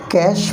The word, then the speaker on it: cache: कैश memory, कैश की spelling है CACHE, कैश memory.